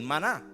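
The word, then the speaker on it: מָן: Así que en el original, cuando uno lee el maná, se pronuncia man.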